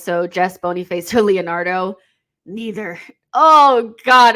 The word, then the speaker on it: Boniface: I think the pronunciation has to be more Kenyan. So Boniface. Listen, Boniface.